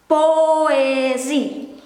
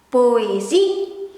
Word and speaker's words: poëzie: And these two dots above the letter, it means we make sure we pronounce the letter.